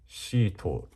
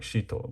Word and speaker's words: Shito: like to call it Shit Chofu, by Junichiro Saito. But the actual like pronunciation is Shito, like Shito, but we say shit, as in like death capital Chofu.